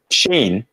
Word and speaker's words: Shane: We've got Sean Vaughn here. Thanks, Paul. You're awesome. No, my friend Shane. I saw the Vaughn and I went to Sean because it rhymes.